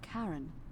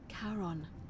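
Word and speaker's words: Charon: it's just as you described it only your pronunciation is a little off okay wrong you heard wasn't Karen it was c a c-a-a-r-o Haron the ferryman of the Dead karon who in exchange for the right coin helps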